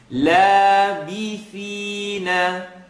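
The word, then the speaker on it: لابثين: لَابِثِينَ بِثِينَ لَابِ. I want to hear the E sound, not لَابِ, لَابِسِ, be, or B.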